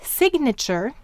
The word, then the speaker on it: signature: phonogram but in then in the word signature we hear the ge very clearly and in signal and